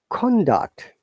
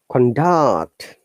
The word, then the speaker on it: conduct: Conduct, higher intonation to down intonation. It is always noun. I'm going to give you some other examples as well. Now, conduct, down to upper intonation, this is verb.